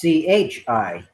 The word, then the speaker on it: chi: be using Tai squared yeah but if your pronunciation says it should be Chi uh yeah you're right fine Excel it's CH I which would be chai so um in the